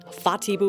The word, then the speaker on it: Whatipu: west of Auckland City fatio Beach wh making a f sound according to Mari pronunciation FPU was made a